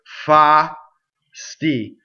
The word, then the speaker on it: fasti: Fa, sti. Fasti is how you sing it, right? You can't sing fasti in slow motion, okay? So again, the first syllable is all ah, second syllable is all sti.